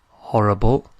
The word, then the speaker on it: horrible: Horrible is horrible. Exactly the same, except with horrible we don't pronounce the H.